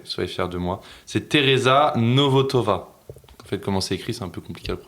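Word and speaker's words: Tereza Nvotová: C'est Tereza Novotova. En fait comment c'est écrit c'est un peu compliqué à prononcer.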